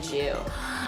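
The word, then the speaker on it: Joo: And my last name is Jew, J-O-O.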